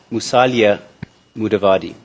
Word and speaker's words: Musalia Mudavadi: you then said musalia mudavadi is my pron pronunciation correct musalia musalia mudavadi is that correct yes your H mudavadi is